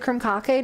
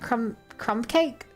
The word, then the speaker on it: Krumkake: Oh my god, they actually pronounce it Krumkake, not crumb cake.